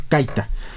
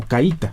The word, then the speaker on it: caita: En realidad la palabra es caita, pero ya se ha modificado como caíta. Se le pone acento en la I.